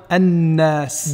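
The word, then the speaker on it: النَّاس: Par contre, lorsque le lam ne contient pas de soukoun, on ne le prononce pas car il a fusionné avec la lettre qui va suivre qui, elle, contient donc une shadda. Il faut bien faire attention à prononcer doublement la lettre qui suit le lam, comme dans ash-shams ou bien an-nas.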